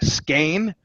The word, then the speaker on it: skein: I mean, Meisha's at the end of her skein. Yeah. It rhymes with pain.